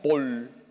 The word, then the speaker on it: Paul: hay mucha ignorancia religiosa san vicente de paúl aunque se pronuncia paul en francés que murió el año